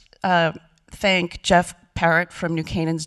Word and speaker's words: New Canaan: For those who didn't know how to pronounce this wonderful town, it's New Canaan, not New Canaan.